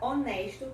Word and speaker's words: honest: Por exemplo, a palavra honesto, que começa com H. Assim como em português esse H também é mudo, honest, você vai falar an honest, an honest, an hour, an hour, an honor, an honor.